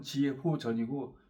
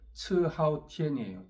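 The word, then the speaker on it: 遲浩田: 국방부장 지호 전이라고 있어요 한국 발음으로면 지호 전이고 중국 발음으로 하면은이 연못지 자를 츠로 발음기 때문에 츠하오텐이에요 츠하오텐이라고 이놈이 뭐 한국의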